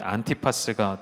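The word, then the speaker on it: 안티파스: 사람이 해롯 안 디바 발음 그대로 읽으면 해롯 안티 파스가 되는 것이죠 이사람은 누구 있냐면 3대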